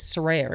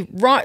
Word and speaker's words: Saraya: And I never told anyone how to pronounce it. So everyone, especially in America, you you call me Ry, like Rya.